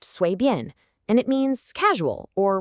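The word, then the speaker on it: 随便: It's pronounced 随便, and it means casual or whatever.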